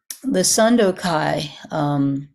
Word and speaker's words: Sandokai: The Sandokai, that's the Japanese pronunciation, but it's not a bad approximation of the Chinese.